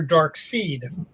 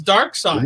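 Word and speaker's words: Darkseid: And I remember going up to Jack and asking him, was the character's name pronounced Dark Side or Dark Seed? No, it seemed a viable question. And it's Dark Side.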